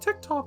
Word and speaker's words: TikTok: It's pronounced TikTok, sir.